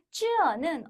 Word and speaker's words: 这: 가까운 것을 가리키는 这라는 것이 这라고 발음이 되니 우리말에 저가 먼저 튀어나오는 거죠. 하지만 쯔어는 엄연히 이것, 이 사람이란 뜻이지 절대 저것, 저 사람이라고 해석하시면 안 돼요.